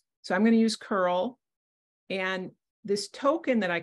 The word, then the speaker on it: curl: API you can use Curl at the command line which is I don't know if this is correct but I just pronounce it as C URL see this URL you can use Postman